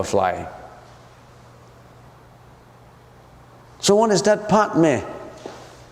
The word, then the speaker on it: Padme: Padme, if you pronounce it right, is Padme.